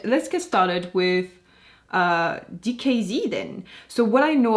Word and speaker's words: DKZ: lineup and finally donkeys oh sorry no that's not how they're called anymore dkz dkz dkz that's how you pronounce it so in today's